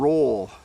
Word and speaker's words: role: And roll, you make an O with your mouth. So maybe practice your O sounds.